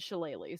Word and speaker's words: shillelagh: Alec was watching some informational videos about the spell casting things, and they said Shillelagh, so that's how you say it.